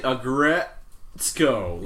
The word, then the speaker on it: Aggretsuko: Start saying Aggretsuko. Yeah. Start with Aggression and then go to Retsuko.